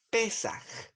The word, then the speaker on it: Pesaj: que los judíos celebraban se llamaba pesaj pesaj esto puede ser bueno quizás que lo anoten los poner comida o fiesta judía pesaj con acento en la e pesaj luego los griegos a